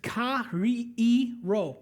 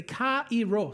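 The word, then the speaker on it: χαίρω: So this word rejoice is pronounced ka-ri-i-ro. Say ka-i-ro, say it. That's the Greek word, okay?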